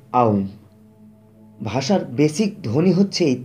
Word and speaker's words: ওম: ওম মূলত ওম নয়, আ উ আর ময়ের মিশ্রণ, তাই মূলত হবে আউম।